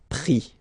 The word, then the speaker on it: pris: And then prendre, so ENDRE will give IS, pris, okay. Same thing here, you don't pronounce the final S, okay.